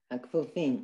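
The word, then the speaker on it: הכפופים: Hakfufim. Okay, that's a k. There's a dot.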